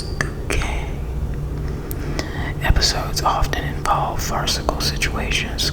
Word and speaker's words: Bucket: The postman comes by and calls her her name and she's always telling him it's bouquet. I got some help from you, Mrs. Bucket. It's bouquet.